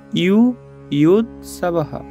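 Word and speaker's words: যুযুৎসবঃ: সমবেতা অন্তর্জ থাকলে ইয় হয়, আর সাথে আছে রস্যকার, তাহলে এটার উচ্চারণটা হবে ইউ ইউদ সাবাহা।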